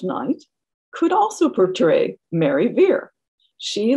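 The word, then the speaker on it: Vere: bless you fair shrew fair and veer were similarly pronounced she also called is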